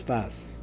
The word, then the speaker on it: Tzfat: Now they pronounce it in English, they always write it Safed, but it's Tzfat. Or in Ashkenaz, it's Tzfas.